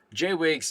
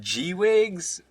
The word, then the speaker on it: J-Wigs: It's like J, just like the letter J, then wigs.